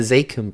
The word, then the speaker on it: Zakim: Is it Zakim? That's what I'm telling you. I'm not a good New Englander. I'm pronouncing the bridge wrong. It's the Zakim Bridge.